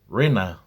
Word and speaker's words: Rena: My name is pronounced Rena in English.